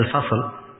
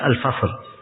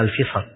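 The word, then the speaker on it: الفصل: Ya, sebagian ulama ada yang mengatakan bacanya Al-Fasl, dan seingat saya sejumlah dari al-muhaqqiqin lebih mentarjih dibaca Al-Fasl, walaupun dia masyhur dibaca oleh orang-orang dengan kata Al-Fisal.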